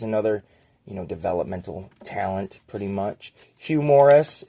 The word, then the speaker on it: Hugh Morris: Hugh Morris. If you say his name quick, it sounds like humorous.